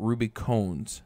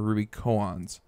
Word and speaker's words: Ruby Koans: ahead and talk about ruby cones or ruby coans i've heard it pronounced both ways and basically what it